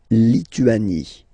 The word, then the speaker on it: Lituanie: La Lituanie. Remember in French, sorry, H doesn't exist, okay, so you don't pronounce it, and it's Lituanie. La Lituanie.